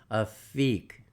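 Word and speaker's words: Aphek: to a feek looks like effect there it's pronounced a feek the English spelling is terrible a lot of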